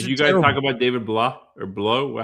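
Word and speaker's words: Blough: Did you guys talk about David Blah or Blow? How do you say the last name? It's Blow. Wow.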